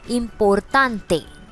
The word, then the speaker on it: importante: Now important has a very similar word in Spanish, just the last E is added and all the T's are little flat. So we will be saying this as importante.